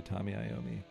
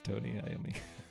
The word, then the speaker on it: Tony Iommi: I always say Tommy Iommi, but I think it's Tony Iommi. It's because Tommy rhymes with his name.